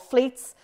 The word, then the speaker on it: Fleets: and they're called fleets yeah it rhymes with tweets and they're called fleets they flutter away after